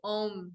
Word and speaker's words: Om: These seed sounds are sisters to Om, which most people are familiar with. That's the really popular one. That one's for the third eye. That one actually has 3 syllables. So it's kind of an o, The reason that